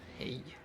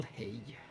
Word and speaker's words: hej: The most common one is hej. Just a completely normal hej. But spelled with a J at the end instead of the Y.